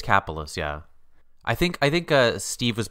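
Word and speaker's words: Kapelos: I think it's Capolis, yeah. I think Steve was pronouncing it differently, but I think it's Kapolos. Kapolos, John Kapolos.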